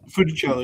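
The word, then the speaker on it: Funicello: Fichello.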